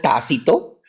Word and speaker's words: Tácito: por favor se llamó T con acento en la a Okay bien específico tácito y otro que se